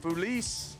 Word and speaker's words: Feliz: Pedro Fu Feliz is how you say that third base.